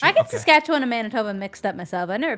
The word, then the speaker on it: Manitoba: It's Manitoba. Yeah, it's in the Wait, did I say it right? Yeah, Manitoba.